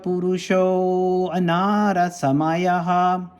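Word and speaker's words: पुरुषोऽन्नरसमयः: I pronounce it the way I often hear it, but I think the correct way to pronounce it, or at least a more meaningful way, is Purusho Anarasamaya. Purusho Anarasamaya.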